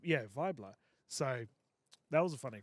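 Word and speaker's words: Wiebler: Well, we thought it was Weebler. It's w i e b l e r. And she said it's like a German pronunciation like vibra but but v. Yeah. Vibler.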